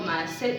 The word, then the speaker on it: maaset: Han arrodillado maaset, acento en la E, buena o mala actividad.